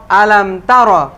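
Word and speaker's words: أَلَمْ تَرَ: আলাম তার। আলাম তার। এখানে কোনো লম্বা করা যাবে, টান দেওয়া যাবে? একদম তাড়াতাড়ি পড়তে হবে।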